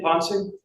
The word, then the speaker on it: Ponce: And Officer Ponce, is that how you pronounce his name, Ponce? Yes.